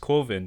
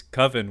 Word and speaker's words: Coven: his short film coven which is of course pronounced coven because coven would be like oven man this movie is